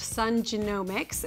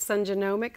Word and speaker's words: Sun Genomics: and he is the founder and CEO of sun genomics and we are going to dive into what exactly that means and how to pronounce it correctly so Sunny welcome to the